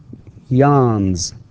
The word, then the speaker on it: yawns: Therefore, we pronounce the s with z and not s.